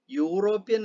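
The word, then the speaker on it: European: പക്ഷെ ഇനി താഴെ പറയുന്ന കുറച്ച് വാക്കുകൾ, യൂറോപ്യൻ, യൂറോപ്യൻ എന്ന വാക്കിന് മുമ്പിൽ നമ്മൾ ഈ ആണ് അക്ഷരമെങ്കിലും നമ്മൾ ഉച്ചരിക്കുന്നത് യു എന്നാണ്.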